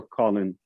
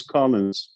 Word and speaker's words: Collins: uh colin's uh part is it collins with an s or colin no ass or not because that's how you spell it most people call you colin let's make a correction everybody use collins okay that's what i